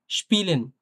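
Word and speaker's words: Spielen: দেখেন এটা কিন্তু মানে একটু শক্তভাবে তালব্য বসার মতো উচ্চারণ হচ্ছে। একটু শক্তভাবে। স এর মতো না কিন্তু তালব্য বসার মতো, হ্যাঁ? Sport, স্পিলেন, sport, স্পিলেন, SPAS.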